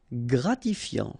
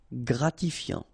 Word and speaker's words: Gratifiant: Gratifiant. Same thing here. Final T not pronounced. Gratifiant.